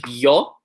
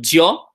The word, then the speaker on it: yo: will say like a ya, so words like yo, right? Some countries will say a bit of a jia, like a kind of a JY combo, like got some weird action going there, like jo.